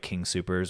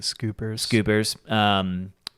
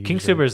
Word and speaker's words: King Soopers: when I'm not eating those meals for lunch, I usually will just go to like King Soopers, which is our local grocery store, and Some people pronounce it scoopers.